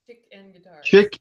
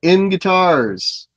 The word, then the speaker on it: ChickNGuitars: Is that how you pronounce that? Yes. That ChickNGuitars. ChickNGuitars.